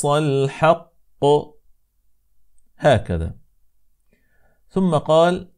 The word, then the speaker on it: الحق: فهي في الكلمه الحق فلا نقول الحاء هكذا انما الحاء هكذا الحق الحق الحق اذا قال الله تبارك